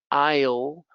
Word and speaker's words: isle: how about this island s iceland no island isle isle i'll debris so the silent s the